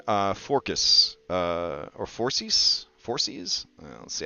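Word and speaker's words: Phorcys: forecast uh or forces forces let's see how you pronounce it um how pronounced late on me four C's okay four C's like foreskin but four C's got it um Moon Maiden is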